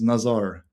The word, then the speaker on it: Nazar: My name is Nazar. Nazar? Might be difficult to spell, pronounce, but Nazar.